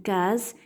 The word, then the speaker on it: case: et la lettre S qui se trouve dans les mots et qui se prononce Z on a une case